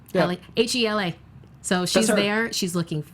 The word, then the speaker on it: Hela: Oh, I'm so excited to see her as Hela.